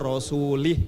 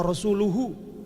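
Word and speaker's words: رسوله: Wa annallaha bari'um minal musyrikina wa rasulih, katanya. Oh, gemetaran dia. Padahal bacanya mestinya wa rasuluhu. Wa annallaha bari'um minal musyrikina wa rasuluhu.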